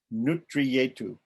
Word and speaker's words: Nutriyetu: And that is called the Rahasya Vivarnam Nutriyetu. When you see a double R with the line under it in Tamil, it's pronounced tra. Nutriyetu.